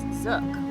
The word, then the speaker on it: zouk: And I keep hearing about this zouk. What is that? Zouk. Zouk. Just look at the hook. The hook. Like hookah. Zouk. Okay.